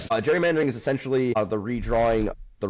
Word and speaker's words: gerrymandering: Gerrymandering I like to call it gerrymandering because the original person original person uh was actually named Gary and was eventually turned into a soft G.